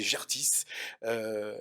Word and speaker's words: Gertis: Alors j'ai dit Gertis tout à l'heure, je l'ai prononcé à l'autrichienne peut-être, c'est Gertis.